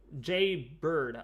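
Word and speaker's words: Jaybird: I do a Jay Bird. Okay, it's Jay Bird. Okay. Thanks for letting me know, Jay Bird. Jay Bird. Jay Bird. I get it, how it's spelled. That's how you say it.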